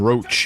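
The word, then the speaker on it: Roche: find it weird that even though it's spelled differently that there's two characters with the name roach in this universe Vernon roach and his horse Roach but it's just it's weird that they're said the same they they come from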